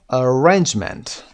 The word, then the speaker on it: arrangement: syllable delivery is delivery five Arrangement Arrangements second syllable is stressed can you understand this